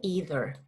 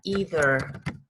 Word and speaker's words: either: No, I don't either. Okay. No. Okay, no, I don't either. Yes, either es tampoco. The pronunciation is either.